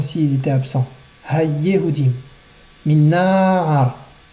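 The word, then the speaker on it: נַעַר: Min na'ar. Na'ar est un mot qui est millerel. Donc on ralentit sur le nun.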